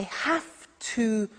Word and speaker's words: have to: so an example I have to use a computer at work now did you hear my pronunciation I have to notice I don't say V I say F have have it becomes